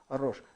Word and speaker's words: Рош: Ну, он читается как R-O-S, Ч, значит, H. И, значит, Рокс. Вот из Рош, значит, все-таки, наверное, не так прочитали, скорее всего, это Рош.